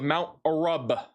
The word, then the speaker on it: Mount Arab: South of Mount Arab. Pronounced it with that large B because apparently that's what it's supposed to be.